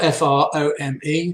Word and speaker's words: Frome: a shedder from Frome in Somerset, spelled F-R-O-M-E, but pronounced Frome, and also a UK Men's Shed Association ambassador.